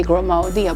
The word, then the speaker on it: Grimaldi: is our breakdown tickers a lot of people don't know how do you pronounce it so i broke i made a tea that say grow my dia break down tea and this is